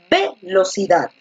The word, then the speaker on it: velocidad: velocidad velocidad o velocidad encaja mejor cuando pronuncias con fuerza la última sílaba cierto entonces la mayor